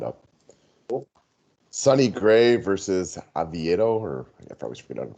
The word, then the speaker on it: Oviedo: Sonny Gray versus Oviedo, or I probably forget how to pronounce his last name. We'll just call him Johan. Yeah, Johan Oviedo. You had it pretty right. Oviedo.